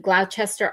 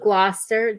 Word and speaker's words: Gloucester: I read it said Glowchester artist Nick Engel. It's called Gloucester. I know it's spelled Glowchester, but it's Glouester. Glouster.